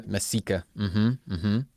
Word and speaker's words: Mesika: So, well, we thank Yaron Mesika. No, Mesika. I have it. It was Mesika. You're the first one, right? I wrote the accent. It was Ika. The Mesika. Yeah, perfect.